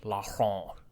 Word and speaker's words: Laurent: A Frenchman would say his name with the French R, and they wouldn't pronounce the T. It'd be like Laurent or something like that.